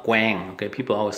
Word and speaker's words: Quang: Q-U-A-N-G, okay, it's not Quang, okay, people always say Quang restaurant. It's Vietnamese, it's pronounced Quang, Q-U-A. A is in Vietnamese called A, Quang, Quang restaurant, not Quang.